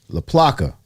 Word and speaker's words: LaPlaca: David LaPlaca.